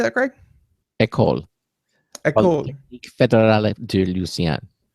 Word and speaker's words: École: École.